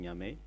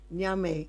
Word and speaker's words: Niamey: and also sometimes when he comes to in Niamey, in the capital, when I was there. How do you say it again? Niamey? Nyame.